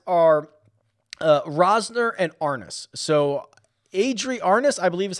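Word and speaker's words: Arnaus: So Adri Arnas, I believe is how he pronounces it, from Spain.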